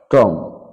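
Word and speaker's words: tomb: কোন কোন শব্দে বি লেটারটা উচ্চারিত হবে না সাইলেন্ট থেকে যাবে কম মানে চিরনি ল্যাম্প মানে ভেড়া টম মানে সমাধি থাম মানে বৃদ্ধাঙ্গুল বোম মানে বোমা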